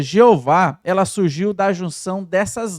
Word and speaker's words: Jeová: para ter uma pronúncia eles pegaram o outro nome de Deus Adonai pegaram as vogais e fizeram a junção com essas letras aqui essas consoantes Y H w h dando assim a pronúncia de Jeová é uma curiosidade que